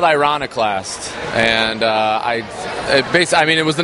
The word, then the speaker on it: Ironiclast: Now, tell me the meaning behind the title of the album, and please pronounce it for me correctly, someone. It's called Ironiclast, and it was the name of a song,